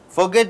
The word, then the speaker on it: forget: there o and E so forget two syllables are there in a verb this second syllable should be stressed forget but Manan Singh is